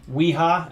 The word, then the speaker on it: Wiha: Wiha, actually, is how you pronounce it.